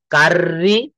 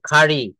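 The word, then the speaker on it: curry: দুইটা আর এভাবে বলি কাররি কার এই দুইটা র বলি না এখানে বলি হচ্ছে কারি কি বলি বলেন তো কারি এটা কারি উচ্চারণ হবে না দেখেন কি লিখেছি ডান পাশে খারি খারি খারি কেন খারি বলবেন কারণ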